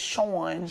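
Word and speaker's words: Shoun: I grew up with I've never seen it pronounced uh spelled that way s h o u n yes Sean okay sh shout out to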